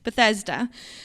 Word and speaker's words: Bethesda: of that because I wasn't sure how to pronounce that. Bethesda.